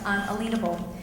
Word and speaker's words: unalienable: And there is a huge difference between the two, and according to constitutional scholars, it is pronounced unalienable.